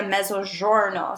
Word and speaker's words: Mezzogiorno: part of Italy ok they call this area Mezzogiorno so I always think of DiGiorno pizza just for the pronunciation so measures are know